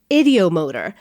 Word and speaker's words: ideomotor: what can we say the reason saying ideomotor was so hard to do because that's not how you say it what it's ideomotor like the id in your brain oh cut to me